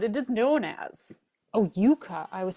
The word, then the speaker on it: yuca: is definitely a root it is a big yaka you got it Yuka or casava is what it is known as oh Yuka I was saying it wrong Yuka so here's